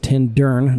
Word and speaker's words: Tintern: So then we came out here to Tintern, which again is pronounced Tindern, not Turn.